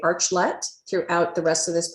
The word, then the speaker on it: Archlet: Do I say Archlet? Archlet? How do you pronounce it? This is a very common problem, Dawn. Actually, it's Archlet. We wanted to build an arch between buyers and suppliers, but then we realized,